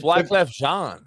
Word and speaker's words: Wyclef Jean: It's Wyclef Jean, homie.